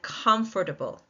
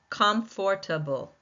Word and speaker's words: comfortable: Let's look at comfortable. comfortable. Four syllables, more than three. Four. And can you tell by looking at the spelling of this divided word which syllable is taking the most stress? Right. The first one by all those capital letters in com comfortable.